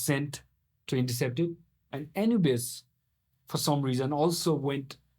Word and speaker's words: Anubis: Anubis. Anubis. Spell A N U B I S. Uh-huh. It's pronounced Anubis.